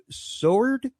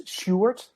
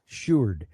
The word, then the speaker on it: Sjoerd: Coming up next, we have Sword. Is that correct? Hi, it's a very Dutch name. It's Sjoerd. Sjoerd.